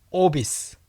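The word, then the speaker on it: obese: 오비스. 오비스. 오베가 아니라 오비. 오비스입니다.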